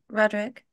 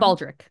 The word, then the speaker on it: Baldrick: I'm going to be like, excuse me, Roderick. Roderick? Is it Roderick? Did I say his name wrong? Baldric.